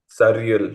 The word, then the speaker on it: surreal: What's the pronunciation? Surreal.